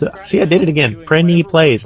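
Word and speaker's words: Prinny Plays: course plenty price see I did it again brendi plays not plenty praise let's start pronouncing it plenty plays and then I don't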